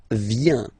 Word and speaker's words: viens: First form, je viens, final S not pronounced, je viens.